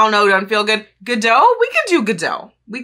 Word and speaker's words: Godot: be meeting today who we're going to go with the pronunciation of Godot, I feel like. The two most popular options in my comments were Godot or Godot. Godot just feels better to me.